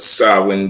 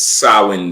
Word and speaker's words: Samhain: you to look up to all right but sawin day it's you know how to spell it Sam it's spelled Sam ha but it's sawin day right it's pronounced SS day yes